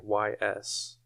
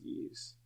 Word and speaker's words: Ys: ever heard of that it's like Ys but I think it's pronounced ease I have no idea it's a pretty popular